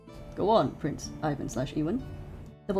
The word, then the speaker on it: Ivan: Pretty sure it's canonically ewan ewan with the emphasis on the second syllable. Okay, then I guess I'll I'll go with that then since uh Ivan is wrong.